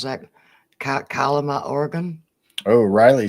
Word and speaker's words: Kalama: Kahama. Kahama. Sound like an Indian. Kahama. Kalama. Kalama. K-A-L, cow, Kalama.